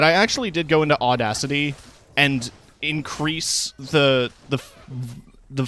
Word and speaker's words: Audacity: oh sounds like you enunciate it in a weird spot the first time audacity audacity Auto City put the emphasis on the wrong syllable but other sounds are